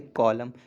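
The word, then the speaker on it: column: है जो एटम से, कॉलम। कॉलम, कॉलम में भी यही है, कॉलम तो बच्चा लिख लेता है कॉलम। ठीक, उसके बाद अच्छा एन नहीं लगाता क्योंकि एन का प्रोनाउंसिएशन नहीं होता है, इस वजह से मिस्टेक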